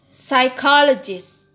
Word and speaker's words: psychologist: Word with 4 syllables, the stress is in the middle. Jadi yang 4 suku kata maka stresnya itu di tengah. Like psychologist.